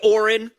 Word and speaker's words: Oren: Oren. I remember his name because he's a moron. It rhymes with moron because that's what he is.